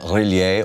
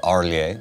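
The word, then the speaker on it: R'lyeh: in the sunken city of relie or arlier depending on your pronunciation you know a lot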